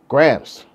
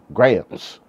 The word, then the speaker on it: grams: Grams. Like Teddy Grahams. Like Graham Cracker. Grahams. Grahams. What the fuck is that? Nah, grams. Grams. Like a gram of weed. Say it like that, please.